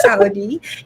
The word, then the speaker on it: Saudi: That's really my last name. It's pronounced as Saudi, and I am from the Philippines.